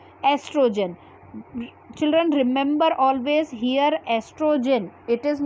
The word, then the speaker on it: estrogen: children remember always here estrogen it is not called oestrogen okay o is silent here so the name of hormone is estrogen only okay here estrogen which